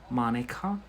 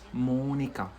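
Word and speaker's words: Mónica: It's not like in English, Monica, yeah, but it's Monica.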